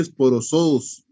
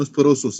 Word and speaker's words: esporozoos: Nada más una aclaración, se pronuncia esporozoos, no esporosos, es esporozoos.